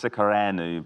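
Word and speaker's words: Alec Secăreanu: Yeah, so that's Alex Sikareanu plays Georgi, and Josh is laughing because I always pronounce his name wrong.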